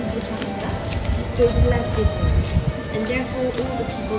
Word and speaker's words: Vosges: No, this is what we call Place des Vosges. V-O-S-G-E-S. Yeah, there are many letters in French that we don't pronounce.